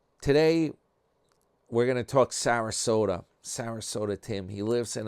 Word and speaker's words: Sarasota: We'll have to go with old Sarasota. Rhymes with Toyota.